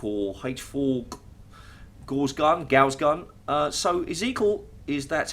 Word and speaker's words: Ezekiel: So Ezekiel, that's how you pronounce his name, has been sort of, I'm not really sure what the word is.